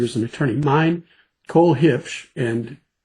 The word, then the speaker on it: Huebsch: Cole Hitch, and I, you know, I look at Allan now because he keeps pronouncing that last name right.